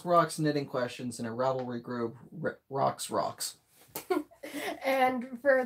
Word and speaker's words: Ravelry: Some people pronounce it different. Ravelry is pretty much how it's pronounced.